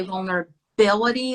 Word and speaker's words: vulnerability: And then when we say vulnerability, the stress is on ability.